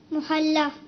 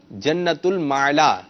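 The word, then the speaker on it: جنت المعلیٰ: المعلا نہیں ہے، درست تلفظ کیجیے. محلہ. محلہ نہیں، آپ کچھ کا کچھ کر دیں گے اور کر رہے ہیں. صحیح ہے، یہ نہیں ہے، محلہ نہیں ہے. عین لام معلا. جنت المعلا.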